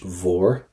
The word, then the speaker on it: mhór: Cuid mhór with a V.